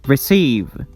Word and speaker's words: receive: Relax, produce, include, begin, become, forget, enjoy, enjoy, receive, receive. We stress the second syllable.